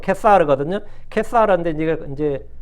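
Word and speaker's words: Caesar: 카이사 카이사에 이제 가이사라이 우리가 보 케스라 그러죠 시즈 할 때 시즈는 여기 발음이고 이제 라틴어 발음은 케사르 든요 사르데 이제 이제 뭐 카이사르 케사르이라고 할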